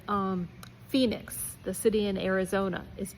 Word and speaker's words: Phoenix: Sometimes H can even be part of an F sound when it's part of PH like um Phoenix, the city in Arizona is ph for example.